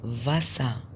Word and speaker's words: Wasser: الفي الدبليو ركزوا كويس قوي عشان الدبليو مفيش واو هنا في الألماني، الدبليو بتنطق في. das Wasser، Wasser، Wasser، Wasser اللي هو المية، المية الووتر، فاسا.